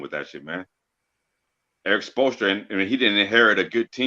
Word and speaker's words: Spoelstra: That's his name, Spoelstra. Am I saying his name right or wrong? You said right, Spoelstra.